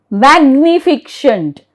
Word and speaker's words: magnificent: Now, the third rule says if GN is in the middle of the word, we pronounce the G. Yes, this is very easy, right? Yes. Magnificent, magnificent, M-A-G-N-I-F-I-C-E-N-T, magnificent.